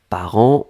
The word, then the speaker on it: parents: par an. On ne prononce pas le T, on ne prononce pas le S, comme d'habitude.